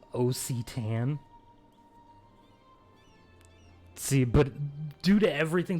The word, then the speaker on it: Occitan: I'm supposedly fluent in, is an O and a C would then make an ak sound. So I would not have pronounced it Occitan. For definitely not. I would have put it like a hard C in there. It would have been an ak.